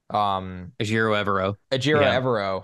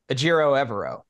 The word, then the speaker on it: Ejiro Evero: And their defensive coordinator, Ejiro Evero, yep, passed up the interim job.